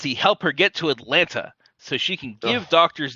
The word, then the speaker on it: Atlanta: you and demands he help her get to Atlanta so she can give doctors there the information